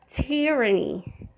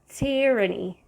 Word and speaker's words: tyranny: the first five letters however it it is pronounced differently it is tyranny tyranny it means the government the authority or the